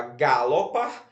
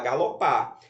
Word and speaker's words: galopar: ló pa você fala galopa você fala galopa ou você fala galopar você fala galopar Qual é a sílaba mais forte pa então se a sílaba